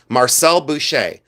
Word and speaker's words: Marcel Boucher: That's the way it's pronounced correctly. Marcel Boucher.